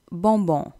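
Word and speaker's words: bonbon: பண்ணுறேன் ஸோ பலே நெக்ஸ்ட் பொம்போன் பொம்போன் தான் கேண்டி கடைசியில் வர என்னை நீங்கள் ப்ரொனவுன்ஸ் பண்ணுறேல ஸோ பொம்போன் தான் சொல்லணும் நெக்ஸ்ட் பல்கோன் பல்கோன் தான்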